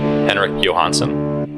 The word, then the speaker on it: Henrik Johansson: Henrik Johansson. That's me. That's well pronounced.